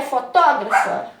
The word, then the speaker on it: fotógrafa: que não né gente porque com acento é fotógrafa sem acento é fotografa a mesma coisa na